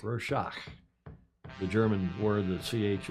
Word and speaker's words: Rorschach: Is that how you pronounce that? Rorschach. Rorschach.